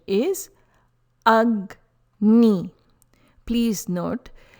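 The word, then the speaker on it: अग्नि: Letter G sounds like G as in guide. It is not Agni or Ajni. Pronunciation is Agni.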